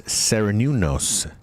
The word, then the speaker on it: Cernunnos: There is a wonderful forest spirit guide that you can work with whose name is Cernunnos. Cernunnos is spelled like Cerrenunos.